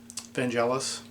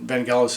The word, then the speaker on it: Vangelis: and i believe will always be but um ben jealous i believe and van gaalis is the proper pronunciation but for 32 years i've been mispronouncing